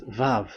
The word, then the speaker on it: vav: So it's like I but this is vav. So the way we read it is v av.